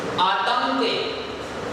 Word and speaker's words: आतंक: आतंक। अक्सर हम इसको आंतक पढ़ देते हैं, बहुत सारे बच्चे आंतक पढ़ते हैं, लेकिन ये आंतक नहीं है।